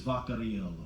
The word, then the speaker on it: Vaccarello: my last name correctly, Vaccarello. And believe me, folks, it gets mispronounced all the time. But I just found out that the correct European pronunciation of my last name is Vaccarello.